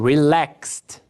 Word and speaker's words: relaxed: Próximo, relax, som de S. Então, relaxed, relaxed.